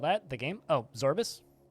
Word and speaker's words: Zorbus: that the game oh zorbus it's like morbius minus the more and the bias zorbus z-o-r-b-u-s this is a